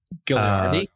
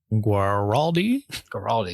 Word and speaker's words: Guaraldi: Vince, Vince Gilliardi. Guaraldi. Yeah, I always mispronounce.